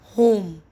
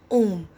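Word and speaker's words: homme: we did now that H is silent so that's why we are not pronouncing it as home we are pronouncing it as om the Hindi om we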